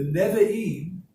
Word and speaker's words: Nevi'im: And what it stands for is the Torah, which is the laws of Moses, the Nevi'im, which is the prophets, and the Nevi'im, if you're writing that down, is spelled Nevi'.